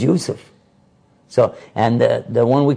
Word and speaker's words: Yusuf: We put a J sound for the Y's. That's English. His name was not Jacob. It was Yaqub. His son's name was not Joseph. It was Yusuf.